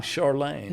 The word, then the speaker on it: Charlane: Charlane. So, uh, and and staying with the pronunciation from my French heritage, you know, uh, Charles would be Charl in French.